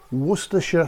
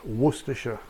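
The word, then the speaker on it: Worcestershire: next I'm going to put in some werer sauce yes that's how you pronounce it werer that's about that spoon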